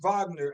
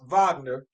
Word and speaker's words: Wagner: Franz Wagner, and I think he's German, so I always got to pronounce some W's as V's. Franz Wagner, he got the same contract, and it's the rookie contract.